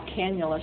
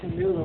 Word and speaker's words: cannula: word you know what i would call cannula she was calling it canola which sounds to me like an italian pastry and so i was